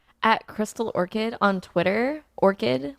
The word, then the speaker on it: Orchid: Orchid, like the flower, not orchard, because it drives me nuts when people say it wrong.